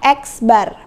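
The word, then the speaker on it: x̄: di atasnya ada garisnya ini dibacanya adalah x bar rumusnya ada dua yang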